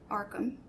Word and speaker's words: Arkham: Arkham. And it's spelled?